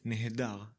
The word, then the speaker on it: נֶהֱדָר: We pronounce it nehedar.